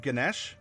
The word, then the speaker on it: Ganesh: And it's in honor of Ganesh, because I don't believe you pronounce the A at the end, at least not properly.